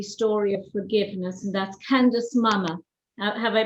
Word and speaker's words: Candice Mama: but an extraordinary story of forgiveness and that's candace mama have i pronounced your name correctly oh you did a